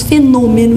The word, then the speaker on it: fenômeno: Nós falamos fenômeno e escrevemos com acento circunflexo no O. Eles falam fenômeno e escrevem com acento agudo.